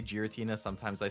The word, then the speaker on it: Giratina: two in that pack I say gutina with the G something like giraffe hard G I've never heard